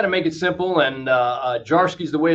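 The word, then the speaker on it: Zdziarski: stuff, but try to make it simple, and Jarsky is the way it's pronounced, but Veep Gene is how a lot of students refer to me.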